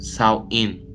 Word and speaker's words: Samhain: Halloween's origins date back to the ancient Celtic festival of Samhain, pronounced Samhain.